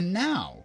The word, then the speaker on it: nau: or sheep it's a now really Google says the NAU ship is pronounced now ok so now I'm